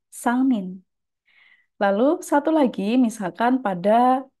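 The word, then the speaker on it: 三人: Jadi mulai dari hitungan ketiga, bilangan ditambahkan dengan kanji orang, maka bagian kanji orangnya akan dibaca dengan nin, sangmin.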